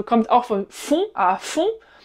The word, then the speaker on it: fond: Ah, fond. Da wird das D nicht ausgesprochen bei fond.